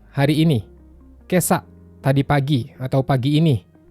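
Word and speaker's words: 今朝: Hati-hati dengan yang warna pink. Cara bacanya enggak sama dengan yang tertulis di atas. Kyo itu kan cara baca khusus. Begitu juga dengan kesa dan Kotoshi.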